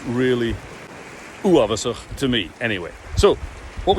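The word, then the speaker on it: uabhasach: Let's see if we can get a bit of a fricative at the back there. Ch, uavasach. And of course, all Gaelic words are initial stressed. So if you can combine all that, you'll pronounce it perfectly.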